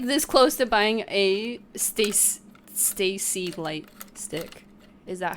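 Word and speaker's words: STAYC: ] 80s light stick it's pronounced like Stacy okay cool that's what that's what I've been saying sometimes I do say steak um I feel like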